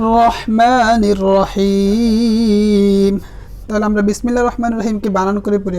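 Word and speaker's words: بسم الله: বিসমিল্লাহির রহমানির রহিম। তাহলে আমরা বিসমিল্লাহির রহমানির রহিমকে বানান করে পড়ি একবার। বা সিন জের বিস, মিম লাম জের মিল, বিস মিল, লাম খারা জবর লা, বিসমিল্লাহ।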